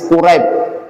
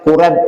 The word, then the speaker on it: Quraib: Hadis Quraib. Quraib itu salah seorang sahabat. Jangan kurab ya. Kuraib. Kalau kurap itu penyakit kulit. Ini quraib. Ya, kalau kita bacanya quraib.